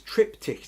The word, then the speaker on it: triptych: I think Vi says tripick or tripick. Trip tip trick. Trying to catch the word since two weeks without any luck. Okay, it's tripick.